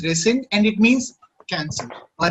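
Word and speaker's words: rescind: called resend okay okay it's pronounced as resend and it means cancel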